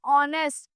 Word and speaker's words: honest: And honest, H silent होता है इसमें भी.